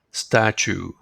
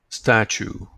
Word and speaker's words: statue: this word from computer games listen to the pronunciation of this word it is a little strange statue Chu Chu statue and this is another noun you will understand